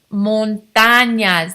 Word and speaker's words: montañas: Las montañas. That tilde gives it a ñ. Las montañas.